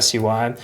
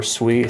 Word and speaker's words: SUI: Uh but to me, ticker symbols are acronyms, so that's how I say it. Anyways, this is part of the SUI community.